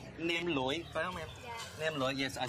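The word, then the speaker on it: nem lụi: It's called Nem Loi.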